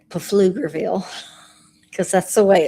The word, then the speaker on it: Pflugerville: I've been going to my friend's house in Pflugerville. Robert would say Pflugerville. Cuz that's the way it's spelled.